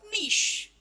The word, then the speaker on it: niche: to teach you about Niche what is this not Nik it is nich it is called as nich and it actual pronunciation n okay clear now let's